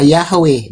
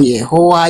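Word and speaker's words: Yahweh: Jadi pengucapan yodhe itu pengucapannya yang paling tepat adalah Yahwe bukan Yehua. Yehua Yehova.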